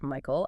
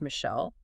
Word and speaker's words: Michael: Well, the author shares this funny story about a radio station and they were mispronouncing George Michael as George Michelle.